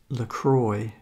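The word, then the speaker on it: LaCroix: subscribe and like so this is about the lacroy drinks lroy lcro CS is pronounced lroy just so you know I looked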